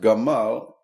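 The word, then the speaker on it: גמל: as a word spelled giml m lamad but pronounced Gamal it means a camel the Camel image goes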